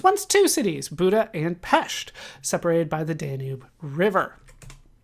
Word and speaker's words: Pest: 2 million was once two cities Buddha and pesht separated by the Danube River all right so